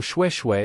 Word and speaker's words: Xue: Random note 2, X is pronounced like Shu, so Xue is like Shui said quickly, kinda.